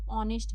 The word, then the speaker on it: honest: क्योंकि यहां पे एच साइलेंट है। इसको ऑनेस्ट हम लोग पढ़ रहे हैं। इसके इसलिए यहां पे एन लगा हुआ है। इसका प्रोनाउंसिएशन जो हम लोग कर रहे हैं वो ओ से कर रहे हैं।